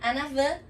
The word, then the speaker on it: en avant: O en avant, que se escreve em avante, é em avant. En avant. Sim? En avant. Porque aquele T também é mudo. Essa é a pronúncia correta no francês.